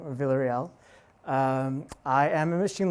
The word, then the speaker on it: Villarreal: a go uh so my name is Adam Vel that's how you pronounce my last name Vel um I am a